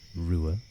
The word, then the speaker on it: Ruadh: bit confusing it's a it's an Irish name so don't worry about how some of those letters make that sound 200 r